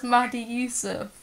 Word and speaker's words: Mady Yusuf: What's your actual, how do you say your It's Mady Yusuf for the last time. It's not Mady Yusuf. Everyone says Mady Yusuf.